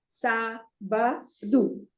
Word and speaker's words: sábado: See, there is an accent there, so the stress goes on the first syllable. There are 3 syllables, sábado. But the stress is on the first syllable because always when there is an accent on a syllable, the stress is on that syllable.